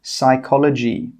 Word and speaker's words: psychology: The letter P is often silent when it comes at the start of words which start with PN, PS, and PT. For example, psychology.